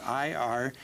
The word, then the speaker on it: Irian Jaya: how to spell it i-r-i-a-n-j-a-y-a that's correct uh i'm not say aryan and i'm not saying area of it's irian jaya and it is where